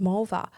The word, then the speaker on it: Mulva: George and Jerry guessed mulva to rhyme with vulva.